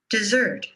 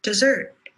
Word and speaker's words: dessert: Dessert. Purple shirt. Dessert.